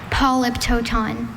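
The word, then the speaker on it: polyptoton: Polyptooton. Polyptooton. Polypiptoon. Are there any alternate pronunciations?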